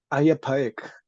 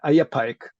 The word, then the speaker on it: Ai Apaec: Oh, Ayapaek. It's hard to spell it, but we also call it the decapitator god, because in Moche he appears decapitating a lot of things. But yeah, Ayapaek, that's the name.